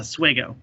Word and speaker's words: Oswego: if you lived there you pronounced it different from how the students pronounced it students said oswego if you live there it was a suego that's what you called